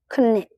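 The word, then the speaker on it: ခုနစ်: Next number is khunit. In English, we call seven. In Burmese, we call khunit. Khunit. It has two syllables.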